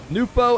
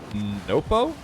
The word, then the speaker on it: Nwpo: dupo by the way i've been saying his name wrong which of course was almost guaranteed but i think it's more like nopo it's closer but also the p is apparently not a sound in arabic either so it's more like